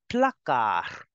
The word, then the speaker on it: placard: You say shelf or cupboard in French as le placard. The D in the end is for decoration.